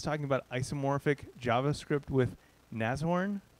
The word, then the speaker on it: Nashorn: about isomorphic javascript with nazorn i just learned how to pronounce it i was pronouncing with two h's and a sh sound nashorn which is totally incorrect um anyway yeah i